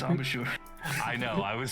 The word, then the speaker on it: embouchure: I don't even think it's pronounced that way. Out of character. It's called I know. embouchure. Yeah, it's embouchure.